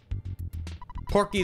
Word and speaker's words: Porky: use it you won porky is pronounced like pokey in japanese because he's a soft